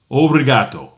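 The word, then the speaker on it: por favor: Okay, pavoreato.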